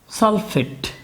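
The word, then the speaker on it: sulfate: ফেট লাস্টে কিন্তু এট উচ্চারণ হচ্ছে, এট, ট। আপনাকে ভালো করে খেয়াল করতে হবে ট আর ড এর পার্থক্য। যখন কোনো যৌগমূলক থাকে না বা এরকম অক্সিজেন নেই তখন কিন্তু ট উচ্চারণ না হয়ে ড উচ্চারণ হবে।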